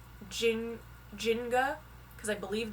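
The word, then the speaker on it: Njinga: believe it's pronounced jin jinga because i believe the n is silent at the beginning but this warrior in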